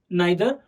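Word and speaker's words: neither: and then देयर इज ईदर एंड नीदर, तुम दोनों भी प्रोनाउंस कर सकते हो, ईदर नीदर, या तो आइदर नाइदर, और उसका मीनिंग है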